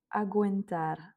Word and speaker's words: aguentar: Agentar, on prononce quand même le u où ça fera du coup gou.